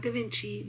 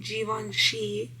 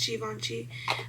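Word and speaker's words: Givenchy: Not Gavinci. Givvoni.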